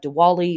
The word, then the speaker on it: Diwali: from our Hindu friends and ancestors, we have Diwali or Deepavali. It's pronounced both ways.